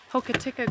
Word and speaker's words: Hokitika: Hokitika Gorge, we learned it's pronounced.